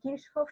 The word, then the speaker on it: Kirchhoff: Hay gente que lo pronuncia de distintas formas, pero como este es un tipo alemán, entonces Kirchhoff es la manera.